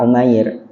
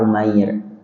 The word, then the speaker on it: Umair: Ada yang membacanya Umar, ada yang membacanya Umair. Kalau di kitab hadis, kitab Syama'il Nabi yang dikarang oleh Imam Tirmizi, kitab yang kami pegang itu bacanya Umar. Tapi kalau kita buka syarahnya, kitab yang dikarang oleh Syekh Ibrahim bin Muhammad Al-Bajuri, beliau menggunakan kata-kata Umair. Sama, boleh seperti itu.